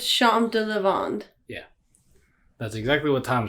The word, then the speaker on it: Champs de Lavande: beer maker it is their gin barrel you pronounce that thompson it's shanta levond yeah that's exactly what tom said when when